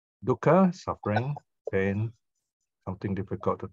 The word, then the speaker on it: dukkha: Khandha here means a collection, a mass, and of course there's an insert K there to make it easier to pronounce. Dukkha. You stop for a while. Dukkha, and the k sound is called a glottal stop.